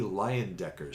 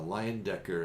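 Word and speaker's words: Leyendecker: were trying to they were looking at jc liondecker's style the illustrator because it was very wood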